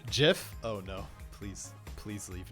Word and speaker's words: GIF: by the xbox team xbox studios it's actually pronounced jiff oh no please please leave now slayer please